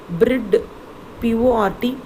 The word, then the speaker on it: Bridport: Into Bridport, B-R-I-D, Brid, P-O-R-T, port, Bridport. Okay, children. Bridport.